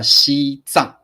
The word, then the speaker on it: 西藏: 多音字，这是一个多音字，不要再念藏了。如果 if you're talking about Tibet， you have to say 西藏，这里不念藏，这里念藏。